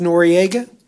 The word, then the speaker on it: Noriega: what's your name sir sir pronounced noriega yes sir like the guy down south huh uncle manny yeah